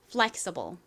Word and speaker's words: flexible: 가장 앞부분에 강세가 있습니다. flexible 좋습니다.